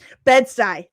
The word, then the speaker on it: Bed-Stuy: Bed-Stuy, thank you. Thank you very much. I knew I wasn't pronouncing that right.